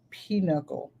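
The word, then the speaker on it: pinochle: it's a card game it looks like Pinocchio but I think it's pronounced peanuckle 515 um else they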